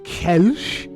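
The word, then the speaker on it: Kölsch: Uh this is a Kelch, I think the correct pronunciation is Kelch.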